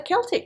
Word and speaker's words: Celtic: origin in french the modern standard is a hard c sound like so i guess that means we need to be calling this the celtic tree you agree david